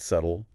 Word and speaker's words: subtle: So, like you could say, I just learned that subtle has a silent B because of its Latin root subtillus.